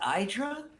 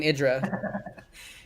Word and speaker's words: IdrA: idra diggity is saying idra he he has said he's but that's so many times that is that's so funny because he his his name is pronounced he pronounces idra and artosis knows that